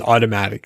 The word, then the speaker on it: Automattic: The next set of themes we'll talk about is automatic themes. So automatic, and that's spelled AUTOMATTIC.